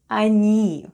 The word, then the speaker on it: они: It's unstressed and is pronounced as /a/ Then we have /n/. And /ee/ and all together it's ОНИ /anee/. Try saying it with me: ОНИ /anee/.